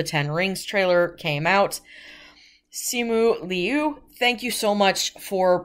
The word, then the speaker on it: Simu Liu: the respectful thing and he basically gave out a pronunciation guide for his name which is c mu liao liu sorry excuse me simu liu and of course the